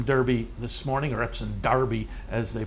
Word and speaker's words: Derby: for the Epsom Derby this morning I represent Derby as they pronounce it alright we'll take a break when